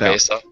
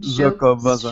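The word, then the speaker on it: Xocoveza: Zocovesa. Zocovesa. No, it There's says actually a xylophone. So like pronunciation. Zocoveza.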